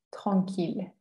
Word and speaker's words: tranquille: En estas cuatro palabras, este conjunto sí no se pronuncia como una I alargada, sino como una L. Y como termina en E, pues esa E no se pronuncia porque no está tildada.